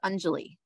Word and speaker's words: Anjali: Hi, yes, and you pronounce it Anjali. Anjali, thank you very much.